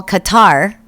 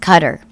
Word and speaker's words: Qatar: they're um they're rich trump does business there cutter which i always want to call qatar but i've been told enough times that it's pronounced qatar one of the world's biggest sponsors of terrorism